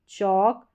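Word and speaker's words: chalk: यानी एल के बाद में जब के आ रहा है तो एल यहां पर साइलेंट रहता है।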